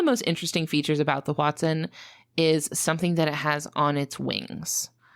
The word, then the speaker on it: hoatzin: Do you know what language it's from? Yeah, it comes from the Nahuatl language, the language spoken by people that lived there. Okay. I don't speak that language, but I went on Merriam-Webster and I listened to how they pronounce it on that website, and I'm going to go with Hoatzin.